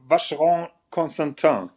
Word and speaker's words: Vacheron Constantin: First of all, the company is called Vacheron Constantin, and not and.